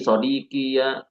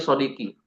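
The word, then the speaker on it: صدقي: Nah, ini sodqi sodqiya. Itu ada yang keliru gitu. Keliru iya ini yang ini keliru nih teman-teman ya. Ini bukan sodqi ya. Harusnya dia shodqi.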